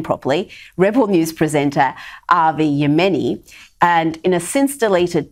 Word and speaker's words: Avi Yemeni: aim at rebel news presenter avi let me pronounce his name properly rebel news presenter avi yemeni and in a since deleted tweet a pr